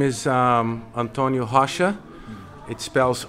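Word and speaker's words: Rocha: name is um Antonio hasha it spells r o c h a but it's pronounced has and um like Russia with an H HHA I come from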